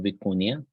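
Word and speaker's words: vicuña: a model called stable viconia and this is spelled vicunia with a little cap on top so it's Spanish pronunciation but some people spell it with an i after n in any case it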